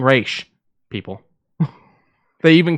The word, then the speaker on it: Ra's: And for anyone that's going to argue, it is spelled R-A-S. I know it seems like it should be Raz. It's an actual word that's not English. It's fucking Raish, people.